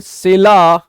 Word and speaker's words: Scylla: Next one is the last one, between सेला. इसको क्या पढ़ेंगे गाइस, एक बार देख लीजिए, इसका प्रोनाउंसिएशन बहुत मुश्किल है.